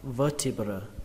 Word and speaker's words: vertebra: Đối với đốt sống số ít thì các bạn đọc là vertebra, vertebra, vertebra.